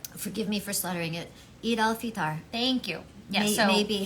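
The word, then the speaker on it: Eid al-Fitr: It's how do you pronounce it? It's Eid al Iftar. Okay. Forgive me for slaughtering it. Eid al Fitar.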